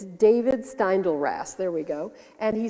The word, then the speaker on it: David Steindl-Rast: In the foreword of his book, Living Buddha, Living Christ, Father David Stendhal, I know how to say his name. I'm subscribed to his blog. It's David Steindl-Rast, there we go.